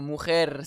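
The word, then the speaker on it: mar: En effet, le mot mer se termine par une consonne. Ce n'est pas un n, ce n'est pas un s. Alors, j'accentue sur la dernière syllabe. Mer, celui-ci maintenant.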